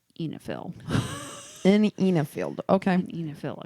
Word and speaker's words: oenophile: It's pronounced Enifiel.